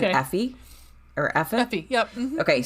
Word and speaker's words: Aoife: And you said, I think you said Effie or Effa? Effie, yep. Mm-hmm, okay, so the wedding night is chapter 1. Effie is... Or Aoife is chapter 2.